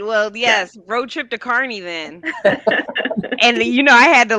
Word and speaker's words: Kearney: I might be like, we'll be live from Kearney next week.